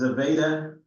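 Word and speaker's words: Zvezda: It's pronounced Zaveda service module.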